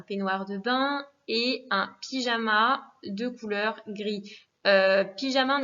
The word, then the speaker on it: pijama: Et surtout pas de son jeu à la prononciation, je vous rappelle, c'est una jota, le J se dit r, donc pyjama.